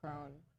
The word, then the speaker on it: Kron: Also, I think his name's pronounced Crone, but we've been saying Kron because that makes sense.